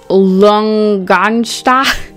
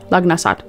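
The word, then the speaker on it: Lughnasadh: And you've got number 11 reversed from this deck, which is Lungansta. I can never pronounce this one. It's Lugnasad.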